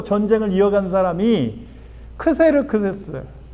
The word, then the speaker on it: 크세르크세스: 그다음에 그 뒤를 위해서 또 전쟁을 이어간 사람이 크세르크세스. 한글 성경은 크세르크서스라고 발음을 하는데 아 우리 에스더서는 아수에로 이렇게 번역을 했어. 에스더의 남편이었던 왕 아수에로가 크세르크했어요. 영어로는 뭐 저시스 이렇게 발음이 좀 어렵게 번역이 되.